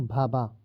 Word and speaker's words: भाभा: भाभा। ये आमा नहीं भाभा है, ये आप ठीक कर लेंगे।